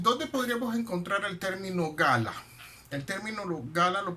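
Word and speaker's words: גלה: término revelación o revelar viene de una palabra hebrea que se pronuncia como gala de la chica la que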